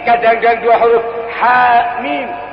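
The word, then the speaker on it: حم: Kadang-kadang dua huruf ha mim. Tidak dibaca hama, tidak dibaca yasa, tapi yasin. Berharokat dia.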